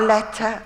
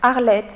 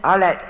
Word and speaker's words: Arlette: Arletta or Arlette? Arlette, that's right. Arlette Lezik.